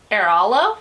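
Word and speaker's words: Airalo: America, but this time I use Aerolo, I think is how you pronounce it.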